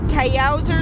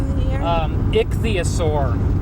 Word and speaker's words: Ichthyosaur: It's Tayauser State Park. It's spelled ICHTHYASAU. Oh, that's I believe that's ichthyosaur.